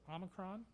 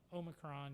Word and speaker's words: Omicron: The United States pronunciation, or the English pronunciation of this particular Greek alphabet letter, is Omicron. However, the British pronunciation is often Omicron. You've heard it both ways in the news, and either way is considered appropriate.